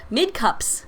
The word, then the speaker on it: Mid Cups: We've seen a lot of back and forth, and Mid Cups is how you say his name, is now on Spy.